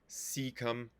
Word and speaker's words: cecum: intestine at the cecum cecum it's awkward because it has a c it has both a soft C the beginning c come